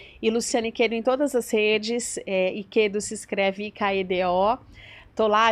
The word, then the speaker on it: Ikedo: e Quedo em todas as redes, Iquedo se escreve I-K-E-D-O.